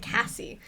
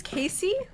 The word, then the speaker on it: Casey: like Cassandra or your name's like Cassie and it's actually not my name is Casey oh yeah and it's like how the freak do you get Cass from Casey cuz it's like a different pronunciation of the a wait I didn't know